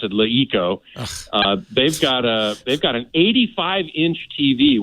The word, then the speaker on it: LeEco: This company, Leeco. Leeco. Yeah. Leeco. Yeah. They pronounce it Leeco.